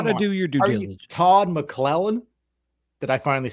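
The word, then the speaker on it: McLellan: diligence you got to do your due Todd mlen did I finally say his name right yeah you did that was very good Todd mlen come on man all this guy all this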